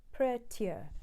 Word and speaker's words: prettier: prettier for than these the word prettier has three syllables but we're going to sing it as if almost if it's it's two syllables the first note is prayer second tear prettier prettier say that prettier